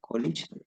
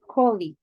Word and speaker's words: colleague: And C, you are really pleased for your college. You think he will do a great job. Okay, Brian, before you share your answer, just to clarify a little bit, the pronunciation colleague.